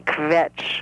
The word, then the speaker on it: kvetch: It's a very difficult word to say. KV with nothing in between. Kvetch.